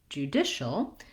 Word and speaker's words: judicial: And then we have the CIAL says shul. So we have an SH sound, even though it's spelled with the CI. Judish. So just like the word dish, but short, judicial.